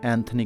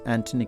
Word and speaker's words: Antony: like Thompson and Thomas and Antony not Anthony Quinn it is Antony Quinn because while speaking English